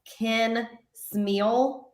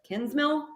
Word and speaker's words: Kinsmill: in this game but these announcers pronouncing kinsmill ken smeal was so weird egregious error can smeal what is that it's literally the easiest name these announcers pronounced david cacklery's correctly and then they're gonna say ken smeal instead of kinsmell what what is happening i don't understand it i really do not i'm so confused i have no answers for you on that i i l not m-e-a-l i don't know how